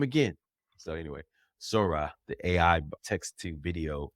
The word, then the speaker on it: Sora: that happened over Sora is it Sora that's how you pronounce it I said Soros I said Soros last time so you know the